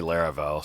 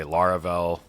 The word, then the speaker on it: Laravel: And it's maybe better to talk about Laravel on rails as like a different word, like batteries included or some other term that is more than full stack.